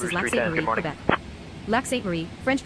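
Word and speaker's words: Lac-Sainte-Marie: Lac Sainte Marie, French pronunciation, Lac Sainte Marie, is a municipality in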